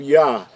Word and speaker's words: Yah: We've talked about the first 2 letters being the pronunciation of Yah. This is found in the word Halal, or the phrase Halal Yah.